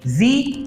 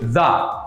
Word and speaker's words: the: শুরু হয়েছে ভাওয়েল দিয়ে, এজন্য এখানে আমরা বলছি দি ওল্ড ম্যান। আবারও বলি দি ওল্ড ম্যান। আবার যদি এই আর্টিকেলটির পরবর্তীতে এমন শব্দ আসে যেই শব্দটির প্রথম অক্ষরটি কনসোনেন্ট, তাহলে সেই শব্দটির আগে এই আর্টিকেলের উচ্চারণ হবে দ্য।